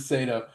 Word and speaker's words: Saito: Is it Seto or Sato? We both pronounced it different. Both. Okay. Both. We we we checked in Inception and, uh, the characters pronounce his name differently. And so, it's it's a free-for-all. You can do it whichever way you want. I'm going to pronounce it Sato.